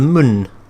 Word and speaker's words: Mun: Or the moon, as I should call it, because it's not spelt with O's, it's spelt with a U.